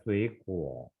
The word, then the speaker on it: 水果: Kalau ini yang artinya air, shui, nada ketiga. Tapi karena dia bergabung sama kuo, jadi kita bacanya adalah shui kuo.